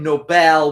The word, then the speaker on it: Nobel: And for his name, Nobel, we we emphasize the the end. I don't know in the Norwegian language if that is proper way to pronounce his name but we do that just to make a distinction between noble and nobel.